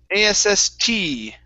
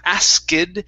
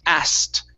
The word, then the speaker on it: asked: okay the uh the the word asked okay uh is pronounced a-s-s-t okay so we skip over the k sound instead of saying asked it's asked try that good one